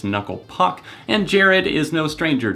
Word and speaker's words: Knuckle Puck: mispronouncing the band's name kukle PUK I believe is the pronunciation that he mispronounces it as obviously it's knuckle Puck and Jared is no